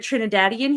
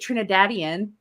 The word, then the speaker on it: Trinidadian: And then we got our favorite Trinidadian here. We got Tris. I said that weird, but that's actually the right way to say it. Trinidadian.